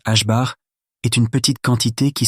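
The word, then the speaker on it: ħ: Se prononce H bar est une petite quantité qui sert à relier l'énergie d'une particule à sa fréquence.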